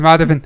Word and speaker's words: Madhavan: I want to say Haven. Madhavan. See, I knew it was Madhavan. I knew it. I've been calling him Madhaven.